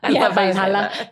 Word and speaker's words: Valhalla: Valhalla. I don't know. Is that how you say it? Of course. No, it's how Australians say it. Valhalla.